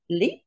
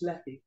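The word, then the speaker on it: Lepe: And the trip out on Monday, the 13th of November, is to Leap, if that's how you pronounce it, L-E-P-E. Is it? Well, Bob says it's Leppy.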